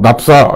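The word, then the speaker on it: naphtha: 우리는 나프타 또는 납사 이렇게 부르는데 이게 저는 이게 이 발음이 영어 발음으로는 어떻게 하는지 납사 결국 나프타가 아니라 납사라고 하는 게, 그러니까 납사라고 읽어주는 게 오히려 더 원어민에 가까운 발음이더라고요.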